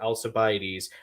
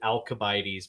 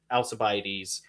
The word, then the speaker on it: Alcibiades: glimpse of this character alcibiades i always i always want to pronounce it alkabides because like there's a thing with the seas in latinized greek where um when the greek got latinized and steve may be able